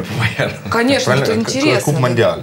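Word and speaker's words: Coupe Mondiale: Куб Мондиаль, правильно. Как? Куб Мондиаль. По-французски. По-французски.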